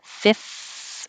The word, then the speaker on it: fifth: So going from the F to the TH, you have a lot of airflow going. You have to have your top teeth on your bottom lip. Fifth. And then open for your tongue to come out and make a TH, but keep pushing air.